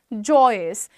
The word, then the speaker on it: joyous: Don't call it Joyce. Joyce नहीं होता है, दैट इज joyous.